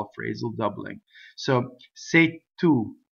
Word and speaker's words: se tu: in that first line I've written a Double T for the word two that is because something called a strong monosyllable makes has an effect on the next word causing the first consonant to double that's a strong monosyllable so